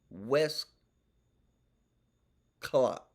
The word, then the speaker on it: Westclox: A nice old clock made by West Clock. West Clock. West Clock. It's spelled WESTCLOX. West Clock.